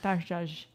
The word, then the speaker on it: Maktashaja: You added one Did syllable. I add a Yeah. Maktashaja? That's it. Maktashaja.